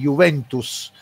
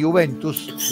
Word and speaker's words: Juventus: con una fonética italiana, que la S en el final, si usted por ejemplo dice Juventus, yo esa S de Juventus la pronuncio, pero tiene un sonido diferente de la S final en español.